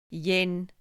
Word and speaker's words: yin: life so here we Yin rhymes with dim and dim is relaxed.